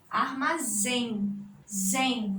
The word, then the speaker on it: armazém: tá parece um assim Armazém trazem última sílaba mais forte termina em que te